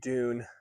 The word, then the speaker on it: Dun: Thorne is being raised by um Dune. D U N is how you spell it.